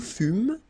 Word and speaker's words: fûmes: Okay, then nous fûmes, final S not pronounced.